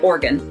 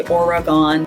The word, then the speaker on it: Oregon: that they pronounce it Organ, like an organ in your body, kidney or a liver or something. They do not separate the 3 syllables and say Oregon, which is how I learned it.